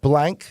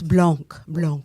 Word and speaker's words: Blanc: That's Blanc. Excuse me. Blanc. Excuse me. Yeah. Get my pronunciations right. And let me opinion. Did I miss a syllable? You have to do it. It's French. Blah.